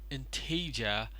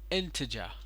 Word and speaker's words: integer: problem in it that you put the wrong stress at the wrong syllable. It is not integer, but it is integer.